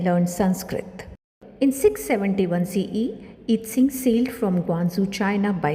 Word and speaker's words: I-tsing: I-tsing, also pronounced as Yijing, I-tsing, I-tsing was a Chinese Buddhist monk and traveler of the 7th century CE.